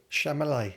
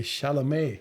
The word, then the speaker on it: Chalamet: Nick, played by Timothy Shamallay. No. How do you pronounce it? The right way. Shalamé.